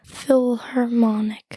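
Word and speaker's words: philharmonic: local philarmonic charity concert wait how do you say that again philarmonic Phil harmonic that's right and wait what is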